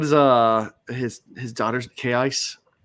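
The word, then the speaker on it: Kaise: Oh, but that's the way it's pronounced on the audio book.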